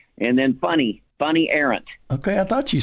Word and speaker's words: Fanny: And then Funny Arendt. Okay, I thought you said funny. Funny as Funny? It's spelled Fanny, but in Europe, F-A is like you.